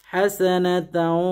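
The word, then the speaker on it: حسنة: রব্বানা আতিনা ফিদ দুনিয়া হাসানাতাও ওয়া ফিল আখিরাতি হাসানাহ ওয়া কিনা আযাবান নার। অনেকে অফিল আখিরাতি হাসানাতাও তারপর আবার বলে, মানে ওয়াকফ করলে হাসানাতাও হবে না, ওয়াকফ করলে হবে হাসানা।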